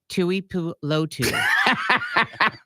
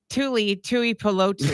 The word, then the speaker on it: Tuipulotu: I think it's one of those names that's just hard to read like a Tuilupo. Like read it like normal. Tuli No, don't do it like phonetically, like slow down like we're 5. Tuipulotu. No, read the whole name. Tui. No, Tu don't pause. Tuli. Read the name like Corbin Tuli.